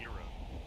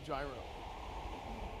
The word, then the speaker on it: gyro: You mean a Euro? No, gyro. It's pronounced Euro, though. No, it's the gyro. Euro is like the money.